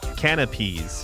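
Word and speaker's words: canapés: Canopies.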